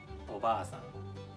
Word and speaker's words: おばあさん: Okay, obaasan. All right. The second one, obasan. Okay. Okay. 3, 2, 1. Obasan. So it's a little bit shorter.